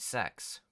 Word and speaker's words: CeX: to lyon as their name would suggest endpoint sex he already used that joke once not today